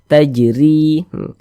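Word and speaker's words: تجري: Huruf ro mempunyai kasrah harakat, sehingga dibaca tipis-tipis, dibaca tarqiq: “tajri.” Kemudian, "ri" dibaca panjang.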